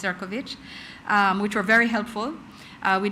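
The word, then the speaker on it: Šefčovič: On the margins, I met with the EU Commissioner for Trade, Marko Serkovic, yes, spelled Sefcovic, pronounced Serkovich, which were very helpful.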